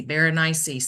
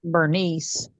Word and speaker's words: Berenice: They were doing a recitation of it, and they said just rhyme it with something spicy, Berenice, something spicy.